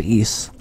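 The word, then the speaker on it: Ys: It's spelled Y-S, and it's pronounced East. And I started playing East Origins.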